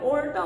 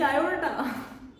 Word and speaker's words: aorta: सो मैं बहुत ध्यान से उनकी बात सुन रही थी और मैंने देखा ओके, ये जो बचपन से मैं ओल्टा ओल्टा कर रही हूँ, दैट इज ब्लडी आयोर्टा।